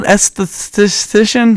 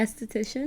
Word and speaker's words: esthetician: Esthetician? There you go. How do you say it? Mm-hmm. Esthetician.